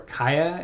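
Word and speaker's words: CAIA: chartered alternative investment analysts or Kyah as its pronounced for CA ia is a professional designation granted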